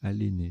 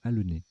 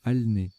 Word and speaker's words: alener: Alors je les ai mal prononcés tout à l'heure, j'ai dit anneler et aléner, c'est l'inverse, c'est annéler et alener, même alner. Alner, flairer en parlant du chien.